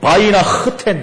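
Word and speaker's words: Weihnachten: 독일어로는요 바이나 흐텐 그랬어요. 원래 독일어는 히읗 발음을 강하게 해야 됩니다. 이렇게 해야 됩니다.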